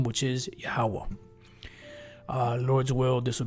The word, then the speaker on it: Yahwah: the yada and then I have the proper pronunciation of the most size name which is yahwah uh Lord's will this will be an edifying